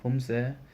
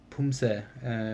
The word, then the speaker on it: Poomsae: We'll take a closer look on both Hyung and Tul, and there's actually two kinds of Poomsae, which is pronounced the same way, but they have a slightly different meaning because in 1987 they changed the name.